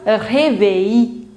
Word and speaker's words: réveil: Whenever you will see the combination I double L in French, you do not pronounce double L. Normally, however, there are few exceptions, but normally you will not pronounce the, if you have I double L together, you don't pronounce double L. So it becomes réveil, réveil à 7.